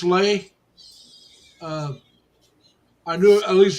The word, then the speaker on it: Le: them were just L.E but uh uh that's pronounced lay uh I knew at least I had a